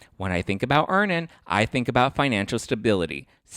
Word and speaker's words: Earnin: when I think about earning I think about financial stability security I love security it gives me a lot of Peace of Mind download earnin today it's spelled e a r n i n in the Google Play